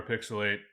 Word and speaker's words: PixelHate: We are PixelHate, where the H is silent, but the hate is very real.